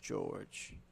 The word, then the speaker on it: Jorge: number 23 now Isaiah George spelled Jorge pronounced George oh he lays down